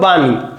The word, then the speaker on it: বাণী: এখানে দেখো উদাহরণ দেখো বাণী। এখানে মধ্যান্য ছিল কিন্তু হয়ে গেছে দন্তান্য নন। এখানে দীর্ঘকার ছিল হয়ে গেছে রস্বীকার।